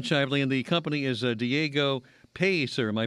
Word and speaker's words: Diego Pellicer: Jam it's Jam sh and the company is Diego peser am I pronouncing that correctly uh P piser that's correct Diego piser Alan thank you so much it's been a